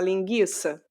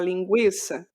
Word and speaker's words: linguiça: tinham trema como e será que no futuro alguém vai falar linguiça ao invés de falar linguiça isso vem nesse nesse nesse âmbito do acordo ortográfico de tirar estas coisas que não são mais pronunciadas como foi o que caiu o trema né tranquilo tinha até uma